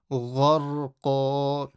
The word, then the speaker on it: غَرْقًا: Gharqa. Ghar. So look at all my letters are full mouth. Gharqa. Not qaf. Don't read ka or ka. Read the q sound.